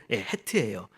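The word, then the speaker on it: ח: 더 좀 강하게 내는 사람들은 이 가래를 이렇게 끌어올릴 때 이렇게 나는 소리. 그게 이제 이 히읗이거든요. 그러니까 우리의 그 히읗과는 다른 헤트예요. 그래서 이게 그냥 헤트하면 못 알아들 수가 있어요. 근데 어떻게 하겠어요? 우리말에는 그렇게 발음 안 하니까. 그러니까 우리는 그냥 헤트라고 해도 됩니다.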